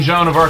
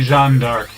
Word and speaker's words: Jeanne d'Arc: So it's like, okay, so we shouldn't be saying Joan of Arc, we should be saying Jeanne d'Arc.